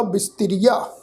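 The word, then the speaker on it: ਬਿਸਥਰਿਆ: असीं पाठ उच्चारण करांगे बब्बे नूं सिहारी की मात्रा फिर सस्सा जो सस्से दे पैर में तत्ता अखर लगा होया ये साध संगत जी तत्ता अखर सस्से अखर दे नाल मिल भी टोन च उच्चारण होएगा। फिर रारे नूं बिहारी की मात्रा फिर यइया अखर जिहड़ा इहदा उच्चारण करांगे ऐड़े के रूप में फिर कन्ने की मात्रा तो उच्चारण होएगा बिस्तिरिया।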